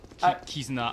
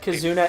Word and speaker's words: Kizuna: you said would be written down and oh kizuna I I would have said kazuna AI I no I don't I don't you